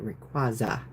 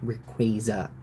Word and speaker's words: Rayquaza: And I'm quickly realizing that some of the Pokemon, like Rayquaza, I have not been pronouncing correctly for like 20 years. I would always pronounce it Rayquaza, not Rayquaza.